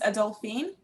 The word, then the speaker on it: Adolphine: My name's Adolphine. So the second O is silent.